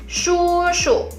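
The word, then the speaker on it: 叔叔: Kalau papa punya adik laki-laki, kita panggilnya adalah shushu.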